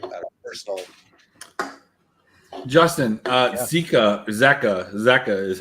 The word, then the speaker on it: Zeka: Justin, Zeka is how you say his name.